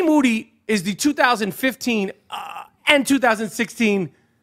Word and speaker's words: Moody: it it's always Moody is the 2015 and 2016 podcast co-host of the year uh this is true they call Moody last name rhymes with Duty uh coming up from